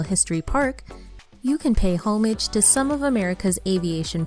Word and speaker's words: homage: Park, you can pay homage to some of America's aviation pioneers, including the legendary Wright brothers. Properly, homage, since it's French. The Americanized homage is marginally acceptable, but never homage.